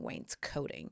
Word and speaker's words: wainscoting: And now I know how to pronounce it so I don't sound like a dumbass saying wainscoting.